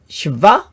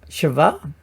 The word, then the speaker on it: Sheva: Then we have shva, shva. This is like a syllable divider, you could say.